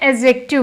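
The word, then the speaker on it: adjective: एडजेक्टिव नहीं बोलते हैं, एडजेक्टिव बोलते हैं। डी साइलेंट रहता है।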